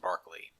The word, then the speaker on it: Berkeley: to talk briefly about the life of William Barclay his last name is spelled Berkley but pronounced Barkley Barkley was made governor of Virginia in 1642